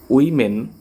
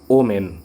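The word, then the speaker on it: women: তারপরে উইমেন নট ওমেন, এটা হবে উইমেন মানে নারীরা।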